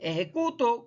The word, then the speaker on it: ejecuto: saber escribir bien, porque no es lo mismo decir ejecuto que ejecutó. ¿Bien? Lleva un acento en la O el último y se diferencia sencillamente por eso, porque se escriben igual.